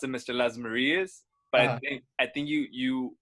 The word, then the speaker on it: Lasmarias: So the correct way is Lasmarias, but I roll with both, man.